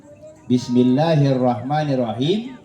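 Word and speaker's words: بسم الله الرحمن الرحيم: huruf ro ada tasdid di atas huruf Ro lagi ada tas tasdid bacanya jadi agak ditekan ya Pak ditekan tapi jangan ditahan kalau bukan di huruf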